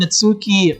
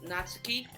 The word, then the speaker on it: Natsuki: the new member and natsuki made cupcakes and everything so here's the thing her name is not not natsuki it's natsuki that's how you say it um i'm taking